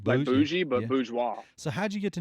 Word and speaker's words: Bourgeois: Jean Paul Bourgeois. Bourgeois. See, that's a Yeah, cool name. like Bougie. bougie, but Yeah. bourgeois.